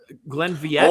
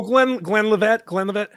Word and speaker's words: Glenlivet: I think it's Glenfiddich. Glenviette. Oh. Glenvillette. Oh, Glenlivet. Yes, that is.